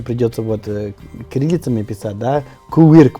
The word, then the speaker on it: Quirk: вот кириллицами писать, да, Куирк произносится, да, а в Америке вот Quirk произносится, то есть это произносится по-другому, это ирландская фамилия, и это означает,